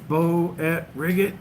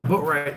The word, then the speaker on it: Boatwright: Company commander for somebody else in boot camp, try and say his name, Bo at Riggit. He's like, no, Boatwright.